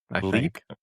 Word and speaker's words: Lileep: Lileep or Lilia Lilia Lileep. Lileep.